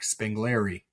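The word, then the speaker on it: spengleri: Um and but but really if you were trying to say it like in from somebody who was like trained in Latin, it would be like Spangleri, but it's but we all say Spangler.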